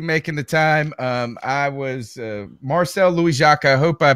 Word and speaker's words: Marcel Louis-Jacques: I was Marcel Louis-Jacques. I hope I pronounced your name correctly.